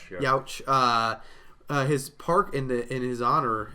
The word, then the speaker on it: Yauch: How do you pronounce his last name? Yauch. Youch.